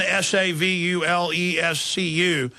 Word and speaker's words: Savulescu: And that's the same thing that the other bioethicist at Oxford, Julian Savulescu. Am I pronouncing that right? Yeah, Julian, Savulescu.